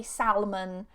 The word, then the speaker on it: salmon: Although with this as an exception, sometimes some native speakers, depending on where they're from, they sometimes pronounce the L in salmon and they say salmon.